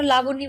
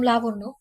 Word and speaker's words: লাবণ্য: ধ্রুবর চোখে চোখ রেখে বলল আমাকে আর কখনো লাবণী বলে ডাকবেন না আমার নাম লাবণ্য পরের বার নাম উচ্চারণ করার সময় সাবধানে উচ্চারণ করবেন লাবণ্য কথাটা বলে দরজা